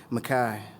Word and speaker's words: Micah: And we pronounce Micah as we wanted, Mackay, because like the kid from Clockers, we scrape fists and cuffs for the dreams of you.